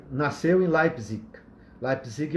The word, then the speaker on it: Leipzig: A pronúncia, na verdade, é Leipzig, tá?